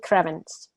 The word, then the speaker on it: Krievins: This time, we're talking to Krievins. I just learned how to say her last name. I just learned to say that it's not Evans, it's Krievins.